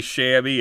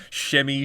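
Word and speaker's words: Shiemi: for for that one i say shabby it's shimmy shimmy shimmy i don't know the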